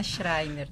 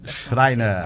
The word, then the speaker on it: Schreiner: O outro nome fica um pouco difícil de pronúncia? Boa então, tarde. É que é a Schreiner. Schreiner.